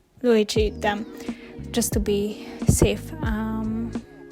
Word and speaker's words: Looji: It was created by another artist who is called, I think I call her Luigi, but I think she pronounces her name as Luigi.